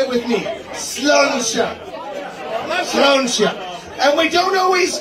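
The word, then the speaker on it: sláinte: You say sluncha. Say it with me. Sluncha.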